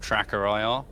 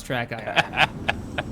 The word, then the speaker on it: TrackIR: In the video, you call it track IR instead of tracker IR. I'm I'm amazed chat has taken you to pieces. I've always said it wrong. It's track IR.